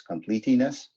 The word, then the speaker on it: completeness: You wouldn't pronounce the E like that, but yeah, completeness. Yep. It's probably Another- hurting the English teacher. What? It's This hurting is the English. yet another dumb word in the English language. I'm not gonna like Completeness. argue. No, English is a really stupid language, but completeness, horrible. we don't pronounce the second E.